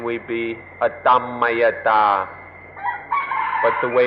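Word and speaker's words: atammayatā: at rest is called otama at an anti pronunciation we be Adam Maya da but the way it's written in English it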